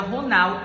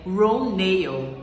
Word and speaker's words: Ronal: fazer o papel da Ronal, ou melhor, gente, vou logo fazer uma correção, porque nessa entrevista a gente vê que a pronúncia correta do nome da personagem é Ronale.